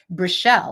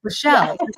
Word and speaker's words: Brelle: calling your name wrong brelle like Michelle but with a bruh brelle you're so adorable like